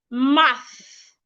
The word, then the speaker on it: math: The first word, math. Your tongue should be in between your teeth, not behind.